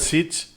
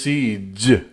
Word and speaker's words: siege: Oh, I said siege, and it's siege. It's voiced.